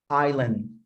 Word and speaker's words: island: word s okay so that letter is never pronounced when we are pronouncing the word island okay so we say island island an island island